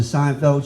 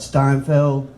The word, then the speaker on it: Seinfeld: We love watching Seinfeld. She'd call it Steinfeld.